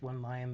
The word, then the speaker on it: 11 Lion: Coding to 11 Lion, or just pronounced one lion. The one is silent. You get to choose which one is the silent one.